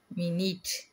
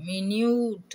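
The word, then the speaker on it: minute: இந்த சொல்லில் யு என்னும் எழுத்து வந்து ஈனுடைய ஒலியை பெற்று வருது அப்படின்றத நம்ம பார்த்தோம். யு அப்படின்னு நம்ம உச்சரிக்கல, மினியூட் அப்படின்னு நம்ம சொல்லலை.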